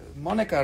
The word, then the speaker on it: Monica: So this one is Monica, rhymes with Hanukkah. Okay, Doc, this one.